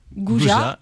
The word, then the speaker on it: Gouja: Alors, ça s'écrit, plus loin Gouja, G-O-U-J-A.